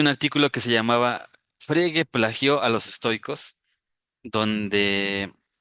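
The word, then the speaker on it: Frege: se llama Gotlof, eh, de repente lo pronuncian como Friger, pero pues aquí para nosotros es Fregue, este autor Fregue, este fue muy sonado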